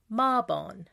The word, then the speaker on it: Mabon: September 21st through the 23rd, we celebrate Mabon. Some pronounce it Mabon.